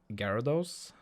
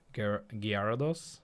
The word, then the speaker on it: Gyarados: It's kind of like when people like how they pronounce Gyarados. And Have you heard a lot of people call it Gyarados?